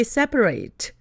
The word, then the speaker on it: separate: 그런데 이 단어가 동사로 쓰인다면 발음이 separate, separate입니다.